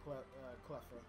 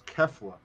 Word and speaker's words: Kefla: So I'm still waiting on Cleffa. If you say her name wrong again, I swear to God, you catch me saying something. Say it wrong again. It's Kefla.